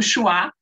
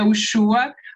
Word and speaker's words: Uxua: muito grande grande e a pronúncia internacional é ua mas o nome em português é uá na verdade é uma